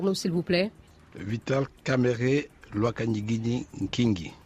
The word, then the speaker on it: Kamerhe: pas parvenu est ce que vous pouvez le prononcé pour nous s'il vous plaît 8h kamerhe loi qu'en guinée king est d'accord ça signifie